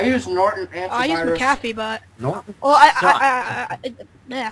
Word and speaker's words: McAfee: Oh, it's pronounced McAfee.